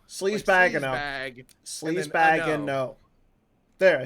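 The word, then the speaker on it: Sleazebaggano: Well, his last name is Sleazebagano. Sleazebagano. Sleazebagano.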